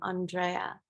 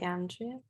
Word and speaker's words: Andrea: just just you know I pronounced my name Andrea not Andrea thanks all right um